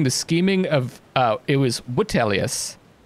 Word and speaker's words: Vitellius: it was Vitellius. I guess the V is pronounced like a W.